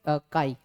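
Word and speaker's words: χ: बोल देता हूँ, बच्चों ये चाय है ना, बच्चे काई बोलते हैं, जो भी है वैसे इसका प्रोनाउंसिएशन काई आता है।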